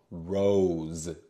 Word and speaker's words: rose: thank you very much the E gives its power to the O and it sounds like its name oh rose rose and the S sounds like a z Rose all right we